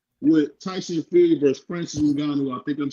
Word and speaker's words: Ngannou: D Free, you said Ngongo. It's Ngannou. I don't care.